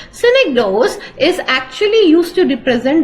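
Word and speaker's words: synecdoche: when you're doing syic do synic do please pronounce with me synic do synic do is actually used to represent the part and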